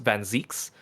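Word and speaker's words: van Zieks: you know what and his name is usually actually pronounced van Zeeks benzeeks yeah in the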